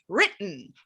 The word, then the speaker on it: written: We usually don't say written, right? We use that glottal stop. written, had written, has written.